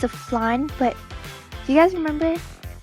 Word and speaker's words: flan: Yes, fear, I knew it was flan, not flan. It's spelt wrong. It's F-L-A-N. That's flan.